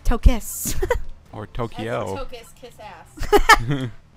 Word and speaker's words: Tokos: Eat Tyler's legs, Tokus. It's Tokos. T-O-K-O-S. But pronounced Tokis.